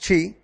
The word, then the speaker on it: qi: In traditional Chinese medicine, reflexology rests on the ancient Chinese belief in qi, pronounced qi, or vital energy.